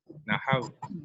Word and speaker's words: نحو: علم النحو، علم النحو، نحو NAHAV، یوں اس کو انگلش میں اگر کر لیں تو پھر سمجھ آ جائے گا.